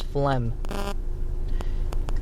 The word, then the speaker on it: phlegm: The word is flem. It is spelled P H L E. Oh, hold. Yeah. P H L E G M. Flem.